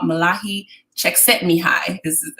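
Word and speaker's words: Mihaly Csikszentmihalyi: to find my flow there's an author called Malaki check sent me hi that's how you say his name and he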